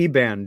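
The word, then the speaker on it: Iban: And one of those tribes was the Eban. Do I pronounce that correctly?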